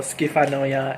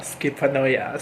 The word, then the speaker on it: Schifanoia: i must say that i kept mispronouncing palazzo skifanoya as palazzo skippanoya so um yeah just